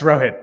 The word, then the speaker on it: Rohit: I'm hopefully pronouncing your name Rohit. Is that correct? Yeah, it's Rohit.